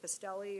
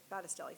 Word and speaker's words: Battistelli: I can't pronounce her last name. Is it Bastelli or? Battistelli, thank you.